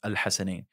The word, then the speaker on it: Al Hasnain: But it is the correct pronunciation is Al Hasnain.